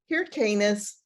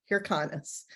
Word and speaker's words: Hyrcanus: It's Hyrcanus, not Hyrcanus. I do that sort of